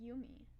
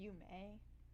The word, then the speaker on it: Yumi: I don't like people saying Yume. It just feels weird to me, if that makes sense. To me, it's Yumi.